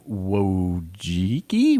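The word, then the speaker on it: Wojcicki: 20th YouTube led by Susan wojiki what would jiki that's right I think that's it yeah well Jackie no yeah anyway it rhymes with hickey oh no you didn't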